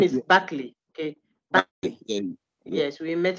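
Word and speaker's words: Berkeley: Okay, so the name is Buckley.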